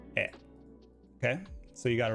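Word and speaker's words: へ: it looks like, because this is technically the hiragana for he, but it's actually pronounced e.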